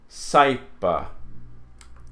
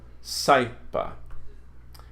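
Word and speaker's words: saepe: So, a, is pronounced I, as in aisle. So puelai, quaiso, saipa. See those here. Puelai, quaiso, saipa.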